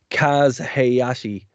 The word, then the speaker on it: Kaz Hayashi: So the next match was a bit of a dip, and it's not because of I'm going to butcher this name, Kaz Hayashi.